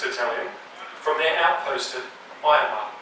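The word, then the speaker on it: Ahioma: These boats were withdrawing D Company from the 61st Battalion from their outpost at Ayama. I know it says Ahiyama, but apparently it's pronounced Ayama.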